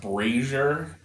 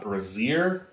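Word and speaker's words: brazier: sort of that indepth uh comprehensive guide It's pronounced brazer it's not braier that is something that ladies use to hold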